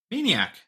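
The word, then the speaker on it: Maineiac: Maniac. That's not how it's spelled MAINEIA. Isn't that like, it's Maniac with Maine. Okay, gotcha.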